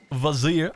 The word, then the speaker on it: Vizier: Vizier, apparently is how you pronounce it. You got to pronounce it like that. Vizier. You got to pronounce it like that from the south into Texas.